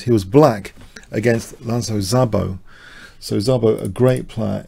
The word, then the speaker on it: Szabo: So a fantastic player, Hungarian player, uh, Zabo, the pronunciation, Zabo Lasslo.